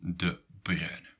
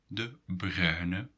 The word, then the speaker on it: De Bruyne: So what is really difficult about this name is this UY sound. Okay. And this UY sound is written in Dutch as UI.